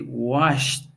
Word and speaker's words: washed: let's see the rules verb endings in f K E as or P use the T sound if you have wash you say washed if you say what